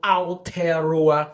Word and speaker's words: Aotearoa: How do I say that, sir? Did I say that right? Yeah, you said it right, but it's just so I used too much mouth. Yeah, there's too much mouth in it.